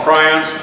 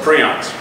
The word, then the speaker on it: prions: And then the prion diseases, in Europe they call them prions. The guy who coined the term grew up here in Des Moines, Iowa, and he calls them prions.